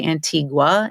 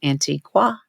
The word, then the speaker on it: Antigua: and we looked up how do you say Antigua antiqua well both are perfectly fine we learned according to